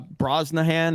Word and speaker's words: Brosnahan: uh I am familiar with uh Rachel uh Brosnahan is how you say it because she was